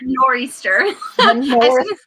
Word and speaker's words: nor'easter: end and i think you don't pronounce the t8 in north nor'easter easter the north easter is